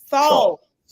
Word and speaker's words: Saul: Saul, Soul, yeah, soul, soul, soul, yeah, soul. SAUL. Oh, like soul almost.